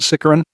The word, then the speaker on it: Sicaran: Sicaran or Sicaran? I pronounce it Sicaran.